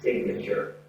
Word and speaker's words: signature: The noun form is signature. There's a difference in the pronunciation as well. Sign, silent G. Signature has a G gut sound in here. So verb, sign. Noun, signature.